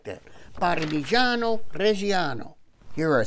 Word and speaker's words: Parmigiano Reggiano: Parmigiano Reggiano.